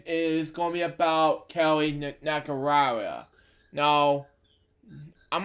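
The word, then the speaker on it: Nakahara: Nakarara, we pronounce it, was born in Honolulu, Hawaii.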